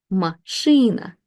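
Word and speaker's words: машина: So we really pronounce this as she ma. So when we put it together, this is the stressed syllable. So it will be machina machine.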